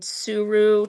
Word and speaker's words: Tsuru: I have a couple of pieces that are cloud Rashida Coleman that are from the line Suru. T is spelled Tsuru.